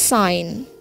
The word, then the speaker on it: sign: The next is sign. Yeah. Sign. Silent letter G.